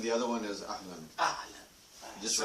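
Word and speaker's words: أهلا: Ahlan.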